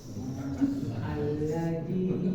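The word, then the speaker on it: الذي: Alladzi, jangan ja. Alladzi yuwaswisu fi sudurin nas. Ah, iya itu masyaallah. Udah boleh pelan. Jadi seperti itu, Pak. Nanti diingat-ingat sifatnya ya, berdesis. Nas, terus dadnya jangan sampai dia jadi tengah lidah ya. Kalau tengah lidah jadi ja. Alladzi ya, alladzi. Tapi alladzi di ujung lidah.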